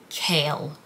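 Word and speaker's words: Chaol: want to do that i don't want to call him kale therefore i will be calling him cole i might change my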